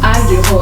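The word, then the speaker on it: 안길호: I'm pronouncing this in the correct Korean way, but Ahn Gil-ho.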